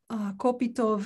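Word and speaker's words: Kopytoff: you to mention igor kupita photo do you pronounce his last name oh okay igor kopitov and suzanne myers yes tell us a little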